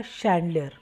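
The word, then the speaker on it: chandelier: फानूस शैंडलियर, यहाँ पर इसके स्पेलिंग देखिए CHANDLIER, तो ये कहलाएगा शैंडलियर।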